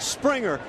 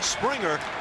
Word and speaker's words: Springer: Number 1 on the young career for George Springer as he goes opposite field. And boy, would you like to see more and more of that. It's a soft G.